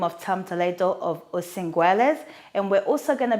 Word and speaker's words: Osinguliers: So indeed, so it's basically called Osinguliers, so it's the way to find. It's French, that's why it's pronounced this way.